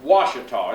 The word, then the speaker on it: Washita: Now, it's Washita. It's not hard once you get started, okay? And folks around the world mispronounce it, so if it takes you a little while, don't worry.